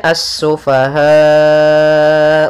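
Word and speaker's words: السفهاء: lafal assufaha di sini ada alif lam syamsiyah yaitu alif lam yang ditulis tapi tidak dibaca sehingga langsung kita membacanya ke huruf Sin kemudian asufahau wala kemudian padafal ha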